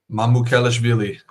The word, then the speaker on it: Mamukelashvili: I won't even try and pronounce his last name. That I won't butcher, but we're gonna call him Sandro. Mamukelashvili.